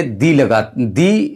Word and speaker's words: the: यानी यह है कि वाउल साउंड से वो लफ्ज शुरू होता है, यानी उसका तलफ़ुज़ वाउल साउंड से है, तो आप उससे पहले दी का तलफ़ुज़ करते हैं, दी प्रोनाउंस करते हैं।